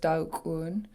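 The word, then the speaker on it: daax'oon: So let's start with just Daukun. This word means 4, and it has a pinched X, in other words, an apostrophe.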